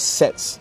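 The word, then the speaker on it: SATS: this Facebook like right it's called sets sets SAT s sets okay so okay this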